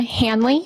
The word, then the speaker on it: Hanley: last name for the jury sure it's Hanley Hanley is spelled h n l y and uh what